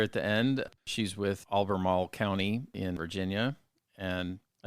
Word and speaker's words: Albemarle: Albemarle is one of those mouthfuls to say. I was going to say I said it. I appropriately said it as if I had marbles in my mouth.